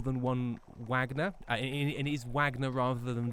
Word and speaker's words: Wagner: It is Wagner rather than Vagnner. Um they may be spelled the same, but I've been told the pronunciation is is Wagner for this one.